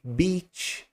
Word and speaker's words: beach: Esse i de beach, resumidamente, é um som um pouco mais prolongado.